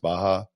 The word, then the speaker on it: Baja: And before anybody gets up Twitter or whatever saying that you pronounced it wrong, I know it's pronounced Baja, but Baja just sounds better.